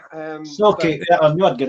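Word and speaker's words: Sauchie: he'll tell me I've pronounced this wrong, the Sochi poltergeist. Yeah. It's pronounced Socky. Socky, yeah, I knew I'd get it wrong.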